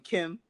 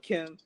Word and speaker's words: Kem: say in my opinion my man Kim you feel me Kem that's how you spell it not ki n but Kim he's like we're the